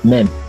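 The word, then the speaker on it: מם: And it's pronounced mem.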